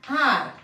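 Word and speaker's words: hour: For example, and, har. We call this as and, har. Yes, இந்த har அப்படின்னும்போது இந்த H வந்து இங்க என்ன ஆயிடுது அப்படின்னா silent ஆயிடுது. H is silent.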